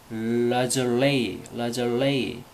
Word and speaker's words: lingerie: 란제리를 lingerie. 프랑스 발음입니다. 프랑스 발음.